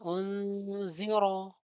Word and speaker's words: أنذر: Kemudian unziro ro ro-nya tafkhim dibaca tebal ya.